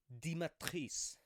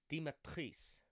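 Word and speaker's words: Dimitrescu: also learned the cornet the correct pronunciation of the big titted goth vampire mommy gf it is lady di matrice di matrice i don't know it's french french is weird i took way too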